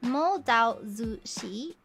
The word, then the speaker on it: Mo Dao Zu Shi: got into um uh mo dao zu shi is that the crack pronunciation can someone correct me on that i don't know how to pronounce it correctly and so like phonetically um type it out for me because i i'm not quite sure i don't know offend by getting the pronunciation wrong did i get it right i got it right okay ah okay okay